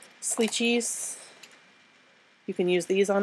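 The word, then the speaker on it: Slicci: So you can use things like Sleechies. You can use these on it. These come from Jet Pens. I think they pronounce it Sleechy. It's spelled S-L-I-C-C-I, Pentel.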